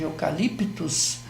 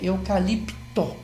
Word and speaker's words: eucalipto: Mas a palavra correta é eucalipto, T-O, né?